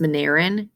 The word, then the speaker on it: Monera: The kingdom has animals, fungus, protists, it's pronounced Mineran, and plants.